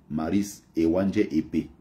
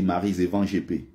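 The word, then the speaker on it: Maryse Éwanjé-Épée: Mais les Français prononcent ça, et elle-même, hein, dans l'émission, elle n'arrivait jamais à rappeler aux gens que c'est pas comme ça son nom. On dit Maryse Evan GP.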